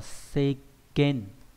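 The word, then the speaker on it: 世間: Trong từ thế gian nhé, nó đọc là seken.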